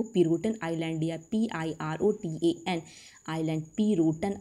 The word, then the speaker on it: Pirotan: पिरोटन की मैं स्पेलिंग बोल रही हूँ, PIROTAN, पिरोटन बोलिए या इंग्लिश में पिरोटन, PIROTAN, पिरोटन आइलैंड कहाँ पे, कच्छ